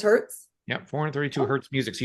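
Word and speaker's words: hertz: is that that's 432 how do you say hzz oh it is Herz yeah 432 Herz music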